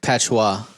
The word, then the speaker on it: patois: have like this patchwork of songs that It's pronounced patois. this patois of songs that might not communicate the same emotion that you get whenever you're writing or recording that song.